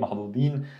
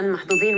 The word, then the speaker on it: محظوظ: lucky محظوظين the plural however in عامية we could pronounce the as a heavy z sound so you could say محظوظ you might hear this a lot instead of the محظوظ you would hear ز محظوظ okay محظوظين تمام but she